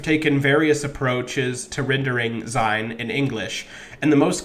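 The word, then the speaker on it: Seyn: for being, sein, as sein with a Y. Sein with a Y is an archaic, old-fashioned spelling of the word, although the pronunciation is identical.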